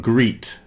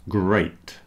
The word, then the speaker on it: great: with plate great plate so great is not greet okay it's great here's another one break